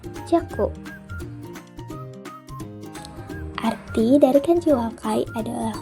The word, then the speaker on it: 若: Untuk kanji ini onyominya adalah jaku.